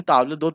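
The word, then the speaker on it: table d'hôte: Where as ताबलेदोत, इसे ताबलेदोत pronounce करते हैं, ये फिक्स्ड होता है।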